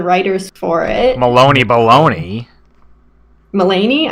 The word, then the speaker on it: Mulaney: for it Maloney boulogne Mulaney I don't know how to pronounce Loney like rind with Bologna that's why that's what